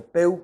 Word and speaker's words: Pew: eeuu pew pew view se pronuncia pew con un w porque nos muestran algo